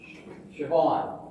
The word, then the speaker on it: Siobhan: It's how it's spelled. Okay. Next. Who's got four? Yeah. S-I-O-B-H-A-N. All right. You might get this one. Siobhan.